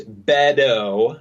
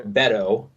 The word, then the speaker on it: Beto: It's Beto. Yeah. Beto. More like a D than a T. Beto, Buddha Judge, and then Kamala.